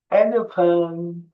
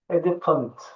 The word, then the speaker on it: elephant: Filin ingilizcesi elephant. Elephant. Elephant. Hadi bakalım. Şimdi sen oku. F sesi var. Tamam mı? Elefant.